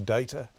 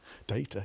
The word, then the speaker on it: data: And also, I keep saying data, but Radio New Zealand's correct pronunciation, I'm told, is data. Data, you say data, I say data.